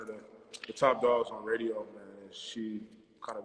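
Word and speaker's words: Raedio: Yeah, spelled like her name, RAEDO, Radio.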